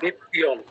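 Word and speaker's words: নিত্যম্: আছে আমাকে বলুন তয় নিত্যম নিত্যয় আছে ম এর নিচে কি হসন্ত আছে হসন্তের কিন্তু অনেক গুরুত্ব হসন্ত থাকলে আমরা অর্ধেক উচ্চারণ করতাম হসন্ত নেই ম আমাকে পুরোটাই বলতে হবে তাহলে বলুন কি হবে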